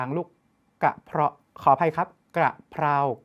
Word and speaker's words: กระเพรา: กระเพาะ ขอ อภัย ครับ กระเพรา กับ กระเพาะ หลาย คน ออก เสียง ผิด อย่า เอา ก ไก่